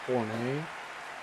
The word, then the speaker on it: Horne: It's pronounced Horne.